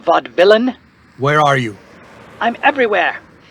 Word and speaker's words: Vaudevillain: tonight only the vaudevillian it's pronounced vod villain where are you i'm